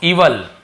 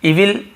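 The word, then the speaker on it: evil: दुष्ट, इवल, इवल, ठीक है। इविल बहुत सुना, इवल एक्चुअल प्रोनाउंसिएशन।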